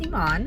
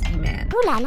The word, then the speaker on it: Eman: name my name is Yvonne but correct pronunciation of my name like if you want to say my name properly the Egyptian Arabic way of saying my name is a man what is your middle